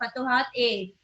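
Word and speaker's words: Futuhat-i: आई जब भी आता है उसको हम लोग ए प्रोनाउंस करते हैं, फतुहात ए।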